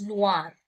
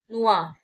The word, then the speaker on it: noir: Pronunciation stays the same.